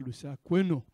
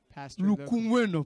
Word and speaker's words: Lukumuena: Aujourd'hui, Today, nous allons recevoir un visiteur, we have a visitor, le pasteur Lusa Kweno. Pastor Lukumweno plutôt. Pastor Lukumweno. Donc, j'ai mal prononcé le nom.